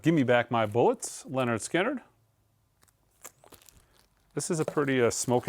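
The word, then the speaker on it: Lynyrd Skynyrd: you should own list we've got leard skinnard pronounced Leonard skinnard this is the 33 RPM version of Leonard Skinner it's second helping we've got the 45 RPM version of Give Me Back My Bullets Leonard skinnard this is a pretty smok and restock this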